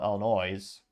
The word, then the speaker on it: Illinois: that rolls off the production line in Normal Illinois or if you grew up in Illinois if you're from Midwest you know it's actually pronounced Illinois but yeah if I was an